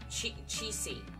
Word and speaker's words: Qixi: Qixi.